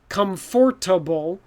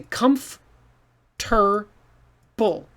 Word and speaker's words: comfortable: totally ignore the spelling it looks like comfortable but we mix it up and say comf ter bull so this middle section this ort gets all mixed up and then this a disappears so the a goes away this o-r-t turns into a tur which is weird so